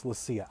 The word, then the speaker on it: Leccia: let's see a tobacco I see it's lesya I don't know if that's how the name was originally pronounced but if you're going to be in the in the cigar business I think that's the smart pronunciation let's see a tobacco